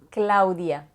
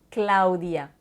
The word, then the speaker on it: Claudia: Mais quand je parle à des personnes hispanophones, je vais faire attention de bien prononcer chacune des lettres séparément et donc je vais répondre à la question « ¿Cómo te llamas? » Soy Claudia. Claudia. Étant donné que le A et le U ne sont pas prononcés comme une seule syllabe qui sonne haut, mais bien comme chacune des lettres séparément, A ou, donc soy Claudia.